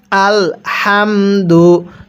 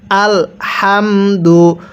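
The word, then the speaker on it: الحمد: তাহলে আলহামদু স্মরণ রাখবেন এই হাগুলো উচ্চারণ করার সময় মুখ দিয়ে হালকা বাতাস বের করে পড়তে হবে আলহামদু অনেকে আমরা এই জায়গাটিতে ভুল করি আলহামদু পড়ি যদি আলহামদু পড়ি তাহলে পড়াটা সহি শুদ্ধ হবে না কিভাবে পড়তে হবে আল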